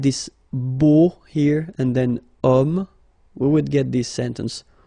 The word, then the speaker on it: homme: Because homme, well, it's masculine, yes. The reason is that it starts with the sound O, because if you remember carefully, H is not pronounced, so H doesn't exist phonetically.